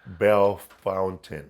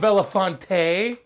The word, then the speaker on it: Bellefontaine: But there's a Belafonte city or street over there, and they call it Bell Fountain. No. Bellefontaine, they call it Bellefontaine. They call it Bellefontaine. And it's not Belafonte.